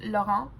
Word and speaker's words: Laurent: If you would say it how the French would say it, it's Laurent, but there is an A-N-T at the end, which is not usually how Laurent is spelled, so maybe I'm saying it a little wrong, but we'll see.